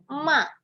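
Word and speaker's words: 骂: Dan nada keempat bacanya ma, artinya memarahi.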